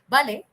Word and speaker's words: vale: Vale is okay. It's pronounced as vale. You will usually find Spaniards say when it's V, you say instead of that you say b, so it becomes vale.